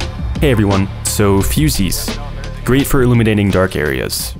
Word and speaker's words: fusee: Now, before I see a comment correcting my pronunciation, yes, it's fusees with 2 E's, not fuses.